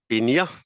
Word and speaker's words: Pinja: set of presentation so I'm coming company called paa that's the Finish pronunciation and and okay so so I am